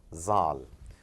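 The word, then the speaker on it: ذال: This is again a little deeper in your tongue, zal, zal. Again, as I said, do keep listening very attentively, closely, the way the Arab brothers and sisters, they pronounce it. And I put it over here as DH, zal.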